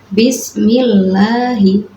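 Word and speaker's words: بِسْمِ اللَّهِ: yaitu bismillahirrahman ahim nah di situ Bismillahi Milla dibaca tarqik sebab lafaz Allah didahului kasrah ya tidak boleh dibaca Bismillahirrahmanirrahim tidak boleh dibaca seperti itu ya itu contoh yang contoh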